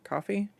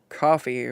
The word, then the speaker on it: Ko-fi: I think it's coffee, but because it's spelled K O FI and I'm a weeb who took Japanese in high school, I just want to use that phonetic pronunciation for it.